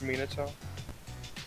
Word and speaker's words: Minato: Actually, it's pronounced Minato.